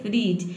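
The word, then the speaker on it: fridge: पे भी नहीं है इसको हम क्या पढ़ते हैं फ्रीज यानी कि डी लेटर साइलेंट रहता है केवल जी को हम प्रोनाउंस करते हैं और ई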